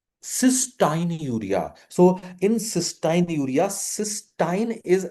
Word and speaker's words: cystinuria: So in cystinuria, तो इसको थोड़ा प्रोनाउंसिएशन भी हम चेंज करते हैं, cystinuria.